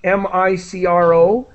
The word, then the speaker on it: micro: sh sound deficient and whenever you see m-i-c-r-o it's micro with an i sound micro micro great right